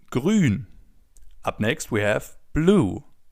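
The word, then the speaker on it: grün: As you already know, the oo with the two dots on top is pronounced as in grun.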